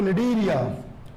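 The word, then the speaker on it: Cnidaria: देखिए निडीरिया, देखिए कि स्पेलिंग देखिए कि सी साइलेंट रहता है, इसमें सी इसमें साइलेंट रहता है। जब सी साइलेंट रहता है तो स्पेलिंग होती है CNIDERIA, तो निडीरिया।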